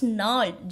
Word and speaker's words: gnarled: The stunted unlucky hair of twisted bones reciting a father's gnarled, G is silent here, gnarled disease.